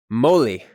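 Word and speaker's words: moli: with art writing systems drawing next we have Molly Molly is drawn with a circle with two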